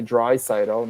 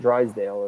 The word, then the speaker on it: Draisaitl: And Zylstra says the only way Draisaitl, not Drysdale as it's spelled, is if his new extension comes under 14 per.